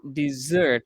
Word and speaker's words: dessert: The pronunciation is dessert, remember?